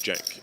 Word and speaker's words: Cenk: It's an interesting decision to bet this board for Jenk. Jenk. It It's spelled with a C pronounced with a J.